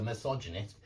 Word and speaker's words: misogynist: to Optimist optimistic okay it's four syllables it's not three but misogynist misogynistic it's got the same endings on the noun and the adjective and what I want you to notice is the stress pattern is exactly the same misogynistic pessimistic optimistic misogynist Optimist pessimist it's always on the anti-penultimate syllable or the two syllables back from the last one okay now it doesn't